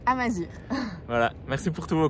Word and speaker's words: Amazigh: On essaye de s'améliorer sur la prononciation des mots en berbère, donc pour la correction, on ne dit pas Amazigh mais Amazir.